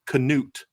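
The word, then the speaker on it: Knute: this at the thing the correct pronunciation is knut Rockne I was like I'm sorry I can't do it I've been calling him Newt Rock name my whole life I'm just going to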